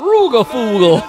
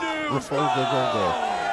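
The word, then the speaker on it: Rygjafylke: Oh, that's how you pronounce that. Yeah. Rugafulga! Rugafulga.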